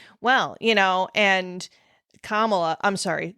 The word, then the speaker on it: Kamala: well you know and Kamala I'm sorry they usually mispronounce her name they they call her Cala or they call her